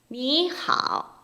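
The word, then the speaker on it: 你好: 그래서 앞에는 니를 편하게 그냥 니 이성 이렇게 올라가는 거죠. 그 다음에 뒤에 있는 하오는 하오 해서 니하오 이렇게 발음하자는 규칙입니다.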